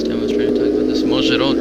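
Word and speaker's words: Mogyoród: Mozharod, right? Yeah, Mozharod.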